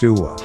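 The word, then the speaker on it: هو: It is pronounced Uwa. Spelled Huwa.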